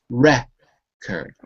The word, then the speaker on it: record: So when you see that little apostrophe before the R, it tells you that that is the stressed syllable. Record. Record. Okay. If it was a verb, to record, we'd have to switch it to the second syllable. Okay? But it's not a verb. It's a noun.